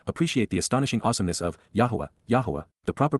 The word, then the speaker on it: Yahowah: and rever Y appreciate the astonishing awesomeness of yah yahwah the proper pronunciation of the name of eloah God as